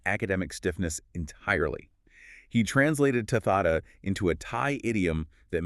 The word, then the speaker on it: tathata: It's tathata, T-A-T-H-A-T-A, pronounced tathata.